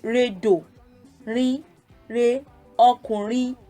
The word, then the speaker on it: ọkùnrin: So it's re do, re, re, ọkùnrin, re do re. So I know that I would be putting the do on the second syllable there.